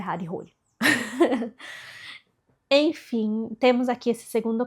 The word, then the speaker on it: Harry Hole: Eu fui investigar como é que se pronunciava esse nome, porque eu li tanto o primeiro livro, que é Morcegos, como esse segundo livro pensando em Harry Hole o tempo todo. Mas aí eu pensei, calma, gente, isso aqui é muito inglês e o cara é norueguês. Então eu investiguei, descobri que a pronúncia é Harry Rolly.